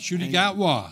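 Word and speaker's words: Ncuti Gatwa: told me that uh and you'll have to pronounce his name shoy shoy H shy gatwa yes the new Doctor Who right worked as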